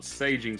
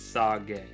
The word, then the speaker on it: sage: to sage something to lower it it's not saging something it's sarge because agai is raising sage is lower so